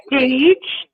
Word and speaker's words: Deej: Dej at That is Deej. Her name is Deidre.